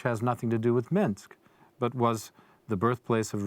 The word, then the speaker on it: Minsk: it's a little town called Minsk which rhymes with pinsk which has nothing to do with Minsk but was the birthplace